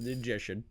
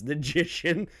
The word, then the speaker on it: Ninjician: He kept saying your name wrong, and I was like, it's Ninjician. It's Ninjician.